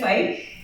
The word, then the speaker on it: Feick: Hello, I'm Feick, which rhymes with hike, which is what I like to do.